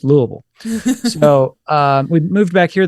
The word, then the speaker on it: Louisville: I can tell immediately if somebody's not from here because they'll say Louisville or Louisville. And we all say it like we've got a bunch of bourbon and marbles in our mouth. It's just Louisville.